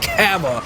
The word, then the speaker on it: Kava: it's going to be cava am i pronouncing that correctly mabel is is it cava it is kava you are absolutely right